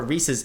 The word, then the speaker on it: Reese's: But in the modern Reese's Puffs commercials, the cereal, they always say Reese's Puffs, which would not rhyme. Reese's. Well, I guess Reese's does rhyme with pieces.